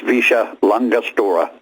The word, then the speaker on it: Villa La Angostura: Yeah, they pronounce it Visha. I don't know how LL comes out S's, but it's Visha Langostura.